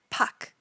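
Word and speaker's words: Park: my previous video that even though in English we spell it as p-a-r-k it's actually pronounced without the r sound as Puck foreign next we have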